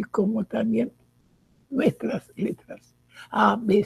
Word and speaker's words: Ab: Por eso cuando nosotros decimos Ab, en la Kabbalah es padre, padre de todo, como también se le puede llamar a Dios padre. Ab. Padre divino, o lo que sea padre, es como se pronuncia.